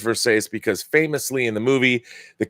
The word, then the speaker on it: Versace: It says Versace because famously in the movie, the character of Nomi Malone, played by Elizabeth Berkley, does not understand how to pronounce Versace, and she calls it Versace.